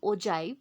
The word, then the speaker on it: ogive: जैसे कि हम देख रहे हैं कि ओजाइव जैसे कि लिखा जाता है ogive, लेकिन हम इसको प्रोनाउंस करते हैं ओजाइव से। सो यहाँ पर जी के प्लेस पे हम जे टोन या फोनेटिक्स यूज करके हम ओजाइव जैसे